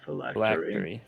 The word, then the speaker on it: phylactery: Yeah, phylactery. Phylactery. Thank you. Yeah, I've heard of that. Yes, he shit, believes the yeah. phylactery of the Lich is in this Doom Vault,